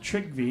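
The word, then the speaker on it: Trygve: name is trig v TR y GV e trick v my name is chell my parents names John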